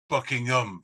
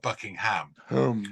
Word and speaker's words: Buckingham: word a place name with ham at the end we pronounce it um so it's Birmingham Buckingham Palace not Buckingham you guys are trying